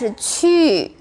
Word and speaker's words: 去: But the rule is 机七西 and e, if with u together, u will automatically pronounce ü with 2 dots.